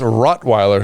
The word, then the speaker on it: Rottweiler: No, it's Rottweiler. Yeah, it's Rottweiler. Rottweiler. Are we not saying it right? You're saying rock. It's rot. You're saying rot. R-O-T. T-T. Rot.